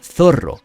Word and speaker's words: Zoro: En la versión española su nombre se pronuncia Zorro, y como la costumbre